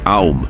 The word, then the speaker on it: AUM: lahat ng mga bagay Karaniwan itong binibigkas bilang aum na sumasalamin sa tatlong aspeto ng Cosmos ang simula ang pag-unlad at ang pagkawasak na kinakatawan naman ng tatlong tunog na a u at m ang simbolo ng OM